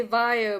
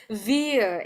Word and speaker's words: via: it depends on you I usually say via but if you if you prefer Veer and it is easier for you yes let's uh stick